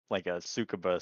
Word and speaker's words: Tsukuba: I look at it as almost like a Tsukuba circuit, which I'm probably brushing how to pronounce that Oh, name.